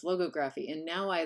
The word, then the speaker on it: logography: have just gone there we're doing it ligography thank you because that's how I used to always say it and then David was like no it's logography and now I like